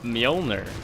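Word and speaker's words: Mjollnir: bear with with the molner no wait Maelstrom doesn't have molner yet and yes it is pronounced molner unicorn EXO EXO hanging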